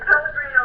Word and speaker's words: Pellegrino: It's Pellegrino like the water.